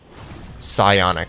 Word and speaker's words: Psionic: Psionic.